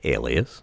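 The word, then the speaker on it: Aleas: people sometimes ask me I went on NPR and they said how do you pronounce this name I said Alias oh and they probably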